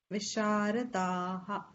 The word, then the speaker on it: विशारदाः: Visharadaha. The visarga has to be pronounced fully.